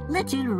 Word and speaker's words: Litten: His name is Litten. That's so cute. Litten rhymes with kitten.